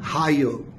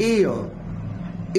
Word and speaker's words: heir: The word is been हायर और आयर। कुछ लोग इसको हेयर भी बोलते हैं, बट इट is pronounced as एयर, एयर, एयर।